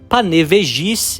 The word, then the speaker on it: Panevėžys: Panevėžys, e essa é a pronúncia correta, escutando os locais falar, é uma